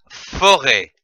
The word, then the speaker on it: forêt: La forêt. F-O, faux. R-E, accent circonflexe, T, ré. Forêt.